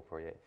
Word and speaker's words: Poirier: I think Michael Poirier. Yeah, that's how you pronounce it. It's French.